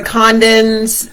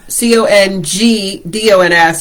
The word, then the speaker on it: Congdon: We are the Condons, C-O-N-G-D-O-N-S, but the G is silent.